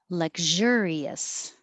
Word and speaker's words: luxurious: Luxurious. Luxurious. Same pattern as continuous. Continuous.